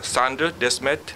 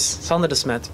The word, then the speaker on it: Sander Desmet: Next speaker is Sander Desmet, Product Manager, Bureau van Dijk. Did I say it right? Yeah, that was great. Thank you. Thank you. Good morning, everybody. My name is Sander Desmet, Bureau van Dijk.